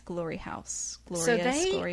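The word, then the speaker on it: Glory Haus: marietta georgia i think you pronounce it glory house yeah it's spelled funny though it's not house like you would think house h-a-u-s yeah glory house do all these fun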